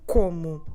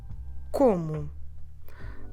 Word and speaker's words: como: and I have you KOMU please don't forget to stress the second to last syllable so we're not stressing